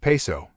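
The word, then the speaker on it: Piso: Christianity where all the creation of the calpurnis Piezo pronounced peso family who were Roman aristocrats the New Testament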